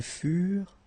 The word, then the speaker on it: furent: Keep in mind that ENT, you know, the ending for the plural form is never pronounced, so furent. Okay, ils furent, elles furent.